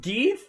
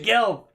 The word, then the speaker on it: Gelth: Pronounced Geeth? Why would it be pronounced Geeth if there's an L in it? What the fuck? It's Really? Gelth.